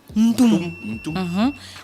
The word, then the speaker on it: Ntol: Donc, Nto. La famille restreinte.